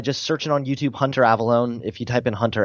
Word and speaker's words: Avallone: Hunter Avalone. Snapchat. I mean, just my name, Hunter Avalon. It's spelled A V- A L L O N E.